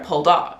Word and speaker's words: Poldark: the rich number seven pull dark I'm saying like that because that's how they say his name in the show pulled up like emphasis on the second syllable but when you say